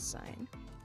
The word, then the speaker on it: sin: use a shortened version s i n which we still pronounce as sine for the cosine we